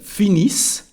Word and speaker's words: finissent: And anytime we never pronounce the ENT when it is a verb, just the consonant before, so here S.